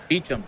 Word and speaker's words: Beauchamp: Beauchamp, I think that's how you pronounce that name. Probably not. Pops one up to the shortstop. Beecham, thank you. Beecham.